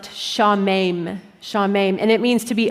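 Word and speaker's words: שָׁמֵם: The Hebrew verb here, or the Hebrew word, is a verb that is pronounced shamem, and it means to be appalled or dismayed.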